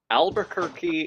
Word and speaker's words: Albuquerque: Albuquerque is the only word pronounced with a key as a Q-U-E.